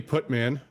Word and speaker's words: Putman: Glazer and there's Billy Putman no it's not that's why I say it that way it's put man it's m-a-n it is yeah oh